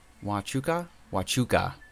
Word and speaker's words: Huachuca: Huachuca. What pronounced Fort Huachuca. Huachuca.